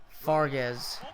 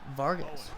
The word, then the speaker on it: Fargas: F so ironically enough I'm pronouncing Fargas as Vargas so we go figure